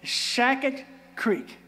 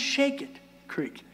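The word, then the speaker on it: Shakett Creek: there and it's called shacket Creek no damn eye socket Creek it's called it's pronounced shake it Creek when when when Jesse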